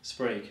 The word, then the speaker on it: Sprague: production of Katya Kabanova, which I hope I pronounced correctly. Perfect. And I'm with Sprague. Sprague. Sprague, oh right, so it's not like Prague with an no, S.